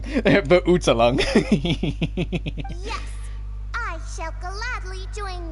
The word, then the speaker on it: Verurteilung: I'm telling you right now, that is not how you pronounce Verurteilung. Verurteilung.